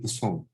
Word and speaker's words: Poisson: French si Poisson. Okay. So, ganun yung pronunciation.